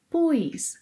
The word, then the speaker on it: pus: Vocês ouvirão alguns brasileiros falarem pus com um pequeno i, pus.